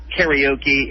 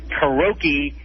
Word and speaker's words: karaoke: There's also another misspelling, mispronunciation of a word. It's called, what most people say, karaoke, and it's not karaoke. It's karaoke.